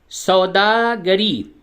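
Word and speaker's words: سوداگری: Number छह सौदागरी निहायत जरूरी और उम्दा पेशा है।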